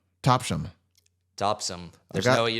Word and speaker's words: Topsham: Topsham. Topsham. Topsum. There's got- no way you don't pronounce the H.